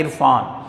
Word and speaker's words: عرفان: جزم ڈالیں گے، سکون۔ اور عرفان، عین کے نیچے زیر ہے، رے کے اوپر جزم ہے، فے کے اوپر زبر ہے، الف خالی ہے، نون کے اوپر جزم ہے، عرفان۔ محبت، میم پر پیش